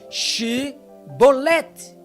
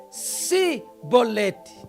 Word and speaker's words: Chibolete: Os efraimitas foram mortos por não conseguirem pronunciar esta palavra corretamente, Shibolete. E eles pronunciavam Sibolete.